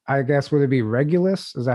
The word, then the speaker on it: Regulus: So I guess would it be Regulus? Is that how you say it? Regulus.